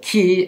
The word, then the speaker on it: qi: thoughts and habits so in korea we pronounce this ki and in china ukraine says qi and they are really